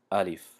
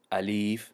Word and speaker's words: الف: الف، الیف نمیگیم چون که کشیده نمیشود، لیش کشیده نمیشود.